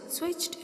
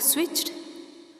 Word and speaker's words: switched: Here I have read the words switched and looked. Children, don't pronounce like switched and looked. Here ch and k sounds. These are consonant voiceless sounds. So the ed ending sounds like t.